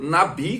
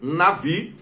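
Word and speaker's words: נביא: da palavra Hebraica Navi transliterada por Nabi com letra B mas pronunciada com som de ver Navi e essa palavra tem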